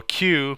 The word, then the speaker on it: queue: the dec uh so a q pronounced by the letter q is actually from the